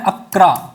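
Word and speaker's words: Accra: इसकी जो कैपिटल है वो है अक्रा कहीं अकारा भी बोलते हैं इसे अकरा है इसकी कैपिटल क्या है अकरा ए सी आर ए यही स्पेलिंग होती है इसकी शायद और इसको बोलते हैं अकरा ठीक है तो यहां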